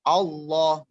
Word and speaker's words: Allah: Jadi ketika tabkhim itu seakan-akan huruf O, Allah.